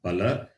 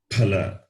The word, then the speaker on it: phala: So that when you know mahaprana, therefore you change the pronunciation compared to the previous one. Pala, phala. You see, phala. Hala. Yes, the difference must be shown.